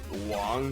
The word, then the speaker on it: Wang: I guess the connect the connect the correct way to for me to pronounce his name would be Wong but that if someone